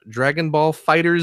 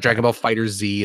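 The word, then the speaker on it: Dragon Ball FighterZ: and you mentioned this earlier i picked up dragon ball fighters zed uh-huh or dragon ball fighters or actually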